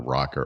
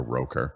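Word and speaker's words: ROKR: He was calling the rocker a roker, like Al Roker.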